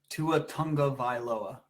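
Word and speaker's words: Tua Tagovailoa: is that confident correct how do you say it two Tonga vioa Tonga yeah oh all right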